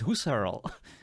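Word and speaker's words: Husserl: No, it's not Husel. It's Husar.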